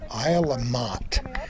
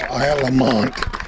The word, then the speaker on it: Isle La Motte: We should explain that we are on Isle of Motte, which many people pronounce Isle of Mont, but it's the northernmost island in Lake Champlain.